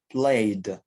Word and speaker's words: played: Maintenant, devant les sons voyelles, alors le ED va cette fois-ci se prononcer D. Par exemple, ici, play, played.